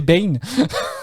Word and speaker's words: Bain: Bon, ça s'écrit Bain, mais bon, je suppose que c'est Bane. Il me semble.